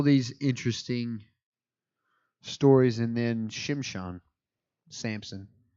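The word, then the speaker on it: Shimshon: interesting stories and then shimshan Samson that's how his name's pronounced in Hebrew shimshan Samson it's terrible he's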